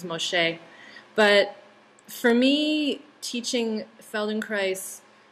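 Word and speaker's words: Feldenkrais: the yeah Feldon Christ Feld in Christ that's how you say it rhymes with Paradise there you go yeah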